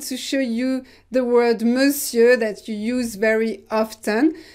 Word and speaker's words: monsieur: So this is very strange because we write it with O-N, so it should be a nasal on, but it's not. This is E, monsieur. And we don't pronounce the final R.